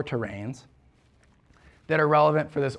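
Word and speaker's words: terrane: Okay, we call these things terrains. And it's spelled kind of weird, T-E-R-R-A-N-E, terrain.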